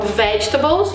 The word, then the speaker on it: vegetables: Então, vegetables vai ter um tracinho na primeira sílaba.